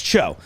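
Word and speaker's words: TCHO: These are in stores now it's pronounced Cho, T-C-H-O. I know you've also seen this product and gone, how do you pronounce that? Is it T-C-H-O? No, it's Cho. Like Margaret Cho.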